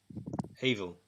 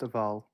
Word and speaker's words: Avel: Evil. Yes. I've been promoted to warden. Last known record. None found. Avel. Avel. It's pronounced Aval.